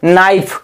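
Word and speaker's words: knife: का उच्चारण नहीं होगा जैसे नाइफ नाइफ इसमें देखो एन का एन का प्रारंभिक अक्षर क्या है दोस्तों के है एन के पहले क्या लिखा है के तो के का उच्चारण हम नहीं पढ़ रहे हैं कहां से पढ़ रहे हैं एन इफ नाइफ पढ़ रहे हैं एक नियम ये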